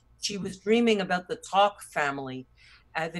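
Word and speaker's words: Tock: was dreaming about the Talk family. The name of the family is called Talk, and I think they spell it T-O-C-K.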